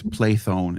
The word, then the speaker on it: Plethon: It's Plethon in Greek. It's plethon and maybe some English anglicized version of I'm just You did